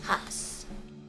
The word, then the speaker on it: Haas: know me so well Haas is a house that's how you say it Haas let's sneak ahead first